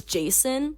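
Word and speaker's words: Jacin: betray them at some point his name is Jason that's like a pretty normal name no it's spelled j a c i n Jason so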